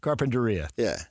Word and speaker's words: Carpinteria: Carpinteria.